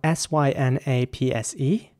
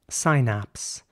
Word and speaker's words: synapse: the American version subsidence the next word is spelled s-y-n-a-p-s-e and in British English it would be synapse synapse and in American English it'll be more like synapse synapse he's suffering from neural